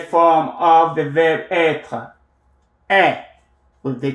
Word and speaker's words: est: of the verb être, est, with the T, est, with the T, where the T is not pronounced, except when it comes into contact with a vowel sound, then it is pronounced, and then you do the liaison, the link.